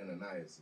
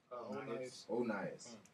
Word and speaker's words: Onias: It's not Ananias. It's Onias. Onias.